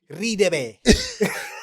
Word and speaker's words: Radebe: They couldn't pronounce my name properly. Radebe.